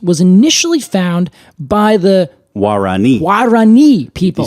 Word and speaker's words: Guarani: So this plant was initially found by the Guarani people. You see the accent is on the last I I do.